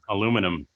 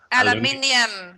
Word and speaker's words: aluminium: And she's actually correct. The actual pronunciation for that word is supposed to be aluminium. Aluminium. Yep. I just say that foil stuff. Everybody says aluminum. It's not even spelt aluminum. That's an American thing.